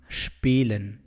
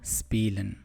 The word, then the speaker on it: spielen: see spilling you play please note the pronunciation of the verb spielen it is spilen not spielen in general the combination of sp and st are pronounced with the ish sound when this combination at the start of a word comes for example spielen sport please note sometimes the